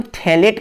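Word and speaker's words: phthalate: तो इसका नाम जो हो जाता है वो अमोनियम थैलेट के नाम से जाना जाता है। यहाँ pH जो है वो साइलेंट है, इसको थैलेट कहते हैं।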